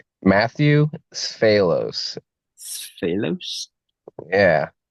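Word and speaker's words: Sfalos: Matthew Sphalos. Sphalos? Yeah. S is in Sam, F is in Frank, Aelos. I've actually seen your name and never knew how to pronounce it.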